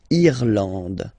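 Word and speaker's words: Irlande: then okay thenand remember this is e and it should pronounce it should be pronounced like e eand irand okay n d and final not pronounced irand okay remember this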